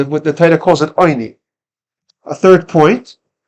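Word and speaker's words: עני: It's written oni, but it's pronounced. The tradition is we pronounce it with a cholim.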